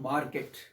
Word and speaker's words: market: Market, but not market. But very few people know that correct pronunciation is market. Everybody is pronouncing market, market, market. Market wrong. It is market, market. R silent.